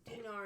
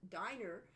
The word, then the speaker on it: dinar: I learned how to pronounce dinar and scentim only a couple years ago. The whole thing has been diner and scent times.